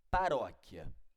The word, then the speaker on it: paróquia: Professor Veja uma palavra Paróquia Paróquia ó palavra Paróquia ela é dividida silabicamente assim ó paróquia a princípio né Ela é uma paroxítona por quê Porque a sílaba forte é a penúltima beleza professor e você